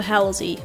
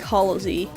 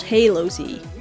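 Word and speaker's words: Halozy: blah blah so yeah he he usually pronounces that he usually pronounces it as uh halsey but i i suppose you could also say like hollow z but it's not halo z it's halsey so yeah time to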